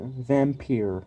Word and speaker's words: Vampyr: and it's called the vampire or vampire I like just calling it that no I'm telling you you know Vampir just sounds weird but that's the correct way to say it and these people worked